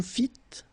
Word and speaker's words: fîtes: Vous fîtes, don't pronounce S.